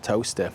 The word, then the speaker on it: Towcester: Like Leicester, Bicester, Towcester. So it's actually spelled Towcester, but it's pronounced Towcester.